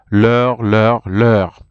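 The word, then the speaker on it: leurs: notre, nos, votre, vos, leur. So you will see even leur there. It's written, the plural form is with an S, but you see you don't pronounce the S.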